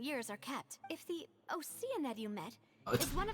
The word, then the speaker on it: Oceanid: we should be able to find some related information Oceanid. there. It's not Oceanid, it's Oceanid. So we've been pronouncing that wrong for 4 years now.